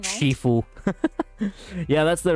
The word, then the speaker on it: Shifu: Shiffue. Yeah, that's the right pronunciation.